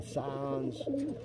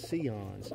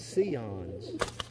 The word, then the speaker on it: Sion: birds and they'll say signs it's pronounced the word is seons see like you see me i see you it's seons c ons not cyans i'll have a lot